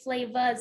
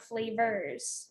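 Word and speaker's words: Flavahz: Well, firstly, thank you for pronouncing it flavas and not flavors, because so many people got that wrong, even though it's spelled AHZ. Right. People would eight flavors, and it would all make us cringe because it just sounds so formal.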